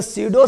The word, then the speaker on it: pseudo: क्योंकि हम देखो सीडो को भी लिखते हैं इससे PSEUDO, जहाँ पी साइलेंट है।